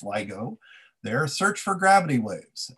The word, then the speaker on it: LIGO: that help scientists at ligo that's pronounced ligo their search for gravity